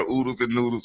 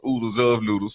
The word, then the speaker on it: Oodles of Noodles: They are oodles and noodles or oodles of noodles since we found out the correct way to say it.